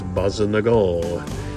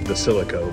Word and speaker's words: basilico: got some fresh basil my mother called this basol in Italian it's actually Basilico but the dialect is basol here we have a nice